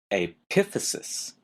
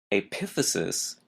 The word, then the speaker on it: epiphysis: the next term is epiphysis p i p h y s i s again notice the stress is in an odd place the second syllable epiphysis epiphysis refers to the ends